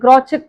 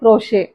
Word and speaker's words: crochet: தென் க்ரோஷே, CROCHET, இது க்ராச்செட் கிடையாது, க்ரோஷே.